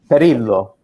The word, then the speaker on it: Perillo: And the other thing I like about the Italians is I like to pronounce their names in Italian. Perillo.